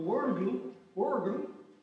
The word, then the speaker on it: Wörgl: Week 4, the Wörgl, experiment. Is there anybody from Germany? Germany? Austria? Wörgl?